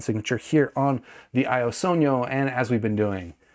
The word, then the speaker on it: Sogno: below head over to Squig link type in Sono which is spelled like this and this is a frequency